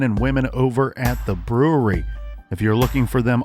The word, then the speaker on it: Bruery: This week we are featuring Black Tuesday Grand Reserve 2020 by the incredible men and women over at the brewery. If you're looking for them online, that's spelled Bruery.